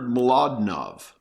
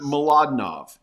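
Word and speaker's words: Mlodinow: an author called Leonard mnov it's it's it's a mouthful it's a Polish name Leonard mnov and the last letter is not V though it's pronounced V it's it's w and he's got a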